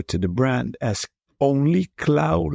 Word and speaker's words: Klaauw: Klaauw, I pronounce it like Klaauw, but in Dutch it really means Klaauw, which is the Dutch pronunciation, really means claw, like the claw of Wolverine, if you know what I mean.